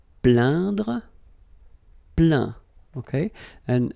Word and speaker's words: plaint: Plaindre, plaint. Okay, and as usual, final T here is not pronounced, so you get craint, contraint, plaint.